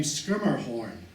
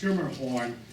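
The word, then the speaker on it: Schermerhorn: learning English and therefore upper class New Yorkers pronounced scrimer horn he told me schmor now he could have just been kidding me anyway this was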